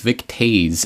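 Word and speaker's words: Vic Toews: But absolutely, and I do know the pronunciation on this one is Vic Tooze, and he got into a lot of trouble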